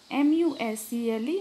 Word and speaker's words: muscle: Letters which are not sounded or pronounced in a word are called silent letters. Example, K-N-O-W, no, M-U-S-C-L-E, muscle, D-O-U-B-T, doubt, C-S-A-L-K, chalk.